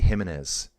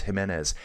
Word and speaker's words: Giménez: I always want to say Jiménez. It's Giménez.